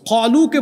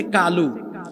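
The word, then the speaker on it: قالوا: আরবি 29টা অক্ষরের মধ্যে 7টা অক্ষরের উচ্চারণ হলো মোটা মোটা। সদ, দদ, ত, য, খ, গইন, কফ। এটা কানা, কফ। তাইলে কালু না কলু? কলু।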